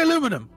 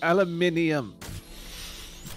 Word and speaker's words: aluminium: Don't say aluminum. It's not aluminum. That's how it's spelled in the game. That's poppycock. That's how it's spelled. Well, then they're wrong. Poppycock. It's aluminium.